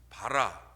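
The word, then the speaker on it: ברא: 한번 보겠습니다이 창조하셨다는 단어는 히브리말로 바라 또는 바라라고 발음을 해요이 바라라는 만들었다라는 의미인데요 어떤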